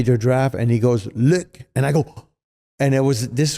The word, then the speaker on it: Luc: So my even though everybody in the U.S. calls me Luc, in Quebec, they call me Luc. That's how you pronounce it.